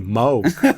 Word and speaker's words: Moog: Like if you use the Moog, let me say it properly, Moog.